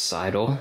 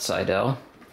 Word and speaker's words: Seidel: the PMW Brands um and yes it is pronounced cidel not sidel um so whites does their fully gusseted um